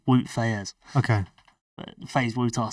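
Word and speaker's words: Wout Faes: good luck pronouncing that FaZe wutar as I would call him W his name's actually woot FZ okay but FaZe wutar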